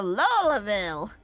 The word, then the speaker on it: Louisville: I'd even say that the O in Louisville is silent too most in the area say something akin to Lille as quickly as possible or is it or